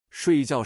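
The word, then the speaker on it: 睡觉: 睡觉是 4 声，水饺是 3 声。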